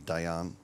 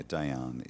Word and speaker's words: Dejan: Actually, Dejan is the correct pronunciation for the question in the in the uh in the chat. Yeah, Dejan is the That's correct.